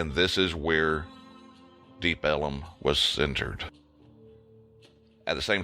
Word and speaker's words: Deep Ellum: but far enough from downtown Dallas to be called Deep Ellum, which in turn, because of Texas pronunciation, it became known as Deep Ellum.